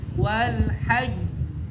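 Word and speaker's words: والحج: Ketika ada huruf qalqalah bertasydid terus diwakafkan, maka cara bacanya adalah selesaikan dulu urusannya dengan tasdidnya baru keluarkan qalqalahnya. Selalu begitu ya. Jadi enggak boleh wal haj itu menghilangkan tasdid. Harus gimana? Wal hajj ya.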